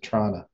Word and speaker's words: Toronto: Well, it's just like we pronounce Toronto, you know, which is in Ontario. We pronounce it Trana.